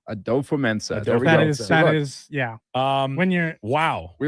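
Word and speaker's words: Kwesi Adofo-Mensah: And in your defense, it is not an easy name to pronounce. Well, are you ready to hear it? Yeah. Kwesi Adolfo-Mensah. But I think it's Adolfo-Mensah. Adolfo-Mensah.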